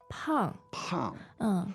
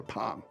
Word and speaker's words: 胖: 胖 Pang. Fourth tone. That's right. And fourth is a heavy sound. There you go. Yeah. Remember, heavy, fat, whatever. Pang.